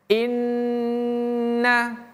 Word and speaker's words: inna: Tasydid itu artinya ya kita membacanya dengan menekan kemudian kita melepaskan inna nih tanda tasdid itu seperti ini ya atau kalau guru ngaji kampung kita bilang tanda sabdu ya seperti ini. Jadi inna inna oke seperti itu cara membacanya tahan baru lepaskan.